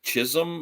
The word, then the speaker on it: Chisholm: this place called uh Chisholm I think it's pronounced it's c-h-i-s-h-o-l-m not his home but Chisholm or something I think